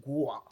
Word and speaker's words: guac: And I just want to tell you, I have recently become a David Yurman guac with a hard G.